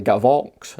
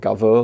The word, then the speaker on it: Gavox: this wrong uh all along and it's actually gavox not gather like i was pronouncing it so apologies for that so this